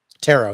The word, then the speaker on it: Tarot: Tarot, yes.